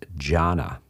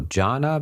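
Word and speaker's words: jhāna: can be described as jhana, Jhana, jhana. When that word is brought into the Chinese language, they prefer monosyllables, so they chop off the last A and it becomes chan.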